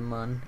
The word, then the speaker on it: Mun: the moon or the Moon it really high speeds actually I believe that has a two accents or the accent over it so I believe it is pronounced Moon but it doesn't have